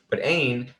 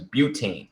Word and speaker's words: butane: And then the next one you have is butane. So basically the prefix is but, or it actually pronounced bute. So not butane, butane.